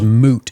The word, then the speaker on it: moot: If this whole thing, this whole thing is nothing but a mute point.